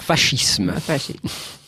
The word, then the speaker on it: fascisme: À l'italienne, je vais dire fascisme.